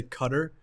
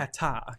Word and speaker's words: Qatar: in America they say cutter which I think was very incorrect yeah right yeah I think it's called Qatar Qatar and what do you